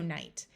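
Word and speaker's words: knight: tighten sight write night Ken has a silent k so this word is also night this night means the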